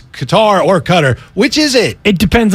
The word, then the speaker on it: Qatar: it the correct way so the real way is Qatar a cutter cutter cutter let's just cut her